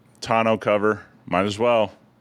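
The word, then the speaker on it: tonneau: Uh, you want the tono cover for 1,200 or a solar cab roof or a solar tono? What? How do you pronounce that? Tono. It's tano cover.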